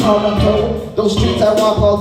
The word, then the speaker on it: Toronto: Originally a Mohawk word pronounced a Toronto.